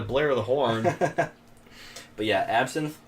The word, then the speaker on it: absinthe: the horn but yeah absinthe but it's spelled with a y so it's like synth like music synth wave and then the